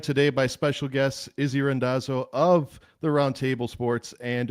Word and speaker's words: Randazzo: I feel like the Italian pronunciation is rando. You know, whenever I'm in Italy, that's that's the normal one.